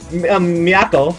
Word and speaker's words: Miyako: So, Miyako is my pupil.